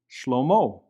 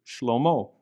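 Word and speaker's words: שלמה: letter he, as in Shlomo, which is how you say Solomon in Hebrew, Shlomo. And in this case as well, the he is not pronounced.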